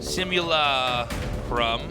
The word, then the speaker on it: Simulacrum: Simulacrum. Simulacrum. Simula. That's it. Crumb. That's the right way to say it.